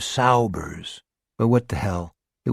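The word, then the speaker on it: Saubers: Billy pronounced it sabbers instead of Saers.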